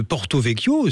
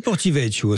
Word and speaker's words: Porto-Vecchio: On va prononcer vraiment le le nom de Porto Vyo, c'est comme ça que ça se dit. Mais on dit aussi Portivecho. C'est ça hein. Exactement. On dit portevecoo dans l'histoire.